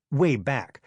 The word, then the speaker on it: WABAC: If you care about classic TV cartoons, you've heard of the WABAC machine, pronounced wayback.